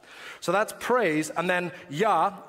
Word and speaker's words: Jah: that's praise and then yah j a h the j is pronounced with a y sound so is uh the